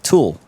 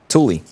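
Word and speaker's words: tuyère: Last time I was wondering how to properly pronounce tool. Well, it's actually Toolie. I think I was pronouncing tool wrong all along. It's Toolie.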